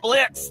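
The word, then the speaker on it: Blitzø: Uh are are you okay, Mr. Uh Blitz? The O is silent.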